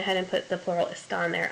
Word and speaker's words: están: Again, you've got a plural subject, so hopefully you said están there, accent on the A.